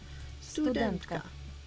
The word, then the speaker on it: студентка: Studentka.